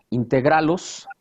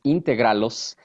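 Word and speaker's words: Integrálos: Integralos con acento en la A. Muchos me han preguntado, oye, ¿por qué está mal la palabra? No, es Integralos.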